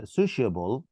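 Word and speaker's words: sociable: سكريبت سوشيبل حرف السي دايما يا عبد الرحمن كده لما بيجي بعديه حرفين متحركين بتنطق شين.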